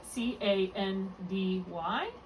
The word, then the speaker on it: candy: Okay, just make sure you're not accenting that final syllable, okay? So you can say candy, but don't accent it. Make sure you're accenting the first syllable.